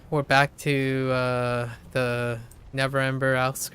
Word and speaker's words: Neverember: I remember I had trouble pronouncing Neverember's name because I have this habitual need to say never remember by like adding that extra syllable, but it's Neverember.